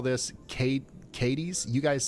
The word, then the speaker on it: Cadiz: Oh, and the pronunciation posse sends its regards. Multiple viewers are suggesting it's Cadiz, Ohio, and Irondequoit in New York.